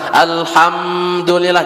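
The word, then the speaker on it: الحمد لله: Hukumnya izhar syafawi, jadi tidak didengung, jangan ditahan. Misalnya alhamdulillah jangan ditahan, tapi bacanya enggak ada dengungnya.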